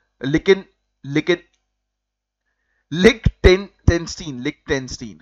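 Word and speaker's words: Liechtenstein: ना तो उसको लिकिन लिकन लिक टेन टनस्टीन लिक टेंस्टीन है ना लिक टेंस्टीन जो है वो कहा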